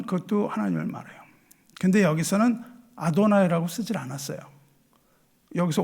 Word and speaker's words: 아도나이: 그래서 유대인들은 하나님에 대해서 막 그냥 뭐 여호와 그래서 발음을 몰라요.네 글자음네 글자를 써 놓고 다르게 읽어요. 그거를 그걸 어떻게 읽냐면 아도나이라고 있습니다.